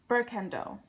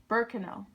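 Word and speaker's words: Berkano: Uh Burkendo. Not Nope. There's no D. Burkano.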